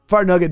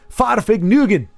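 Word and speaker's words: Farfignugen: Fartnugget dying is a skill issue. And it's slanderous because you didn't pronounce my name correctly. It's Farfig Nugan.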